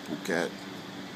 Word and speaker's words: Phuket: It's pronounced Phuket, Phuket. I like to call it Phuket.